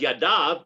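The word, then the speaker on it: ידיו: okay so uh uh it's written you dull above to tell you that there's a superior to the right hand uh but it's pronounced yadav because in practically speaking that's what we do the kohanim use both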